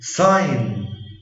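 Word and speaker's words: sign: حرف جي لا ينطق اذا جاء قبله حرف الاي وجاء بعده حرف الان. زي ساين ساين لاين لاين ريزاين ريزاين فورين فورين.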